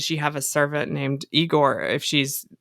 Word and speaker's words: Igor: the one that that is always there it's pronounced igore yeah can we discuss how they changed the